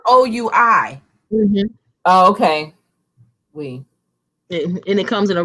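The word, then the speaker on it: Oui: good oh she said the french yogurt is pronounced we oh you know what i think it is yes we but it's spelled o-u-i oh okay we and it comes in a real cute um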